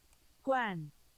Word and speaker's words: Juan: I need to know Juan oh Gwen a Spanish I explained it it's John John Juan it's one it's pronounce one okay uh sorry about